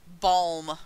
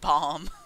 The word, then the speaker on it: balm: Holy Hand Grenade dude balm rather than bomb yes the one that rhymes with palm I straight up didn't